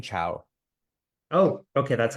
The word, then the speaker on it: Chao: incorrectly oh that's okay it's like the Spanish greeting cowo oh okay that's how